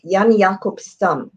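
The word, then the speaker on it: Jan Jacob Stam: i'm going to say his name and then spell it yan yakub and he is j-a-n-j-a-c-o-b s-t-a-m and he does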